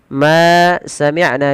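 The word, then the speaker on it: مَا سَمِعْنَا: Baik, kita perhatikan pada lafal in ma samna maaf ma samina biadza ma kita panjangkan sepanjang dua harakat yang kita beri nama dengan hukum tajwidnya berupa mad thai.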